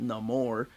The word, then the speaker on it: Namor: But if you read Namor I guess they pronounce it Namor, according to the movie.